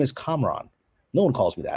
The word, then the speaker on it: Kamran: happens to me every day my name is komron no one calls me that and so i